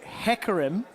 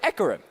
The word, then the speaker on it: Hecarim: I was told that H was the correct way to say it, so I have now dropped the huh, and have now learned the error of my ways. So, for an example, I would say hecarim. And I would say Ekarim. Okay. Because we're dropping that now, because that would be the correct way to pronounce the letter.